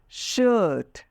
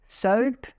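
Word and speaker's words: shirt: will completely change now let's talk about शर्ट नॉट सर्ड शर्ट some people are calling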